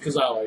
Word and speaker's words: Tozawa: Tozawa, yeah, you said it. I'm sorry if I You're good.